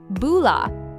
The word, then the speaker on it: bula: B U L A, right? That's it. Four simple letters. And you pronounce it like boula.